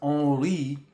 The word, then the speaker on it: Henri: first of all, because Henri is how you pronounce my name if you are in France. My name, the H is silent. So it's almost like if you're just spelling on and then re, O-N-R-E. It's literally like it sounds different than what it spells.